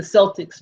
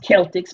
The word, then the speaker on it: Celtics: You know, we say the Celtics, but actually it's pronounced Celtics.